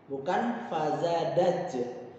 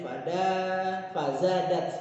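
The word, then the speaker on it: فزادت: Bukan fazadaj, bukan fadajaj, tapi fazadat, maaf.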